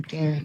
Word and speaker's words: Qair: Bom, eu vou terminar Well, falando de três pilares da Qair. I'd like to end by talking about A maneira three como a gente pillars faz os nossos negócios. that Qair adopts and that permeates all of our No business.